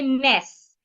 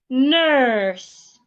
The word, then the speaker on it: nurse: A lot of Nigerians will say ness. In fact, Ghanaians will also say ness. Nigerians are coping Ghanaians. They will say n. Nes. No. The word is rightly pronounced nurse.